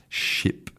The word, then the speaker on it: ship: So, in the first one you have a short vowel /i/ /i/ ship and in the second one you have a long vowel /i/ sheep and short and long vowels are really important a part of correct English pronunciation.